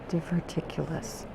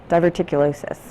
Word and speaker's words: diverticulosis: Diverticulous. Diverticulosis. That's what you're saying? Oh, you're explaining to me how it's pronounced?